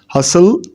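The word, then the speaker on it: hustle: हसल and Bansal, T is silent in both words.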